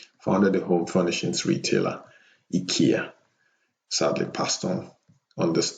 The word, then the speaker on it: IKEA: 2018 last but not least swedish entrepreneur in kamprad who founded the home furnishings retailer ikea it's pronounced ikea in swedish and scandinavian countries but ikea in